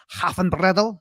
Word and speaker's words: Haffenbrettel: Abby's great, but I insist the pronunciation of the name is Haffenbrettel. That's the right German way to pronounce it.